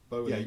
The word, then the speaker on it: Bowley: Bowley rhymes with Foley, yeah, remember now?